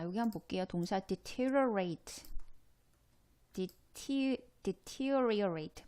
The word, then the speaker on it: deteriorate: deteriorate. 발음이 쉽지 않아요. deteriorate. 여기에 강세가 갑니다. 이 음절.